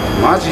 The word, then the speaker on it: 本気: 本気って書いてマジって読むね。